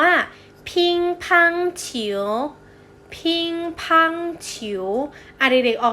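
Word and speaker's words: 乒乓球: ปิงปอง ปิงปอง นะ คะ ภาษา จีน ออก เสียง ว่า พิงค์ พัง ฉิว พิงค์ พัง ฉิว อดิเรก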